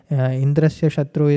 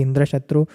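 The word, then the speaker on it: इन्द्रशत्रु: Karma Yoga requires rules if indras shatu is you know pronounced strongly Indra shatu and the vasura instead of getting the power to kill Indra he got the power to be killed by Indra so the karma yoga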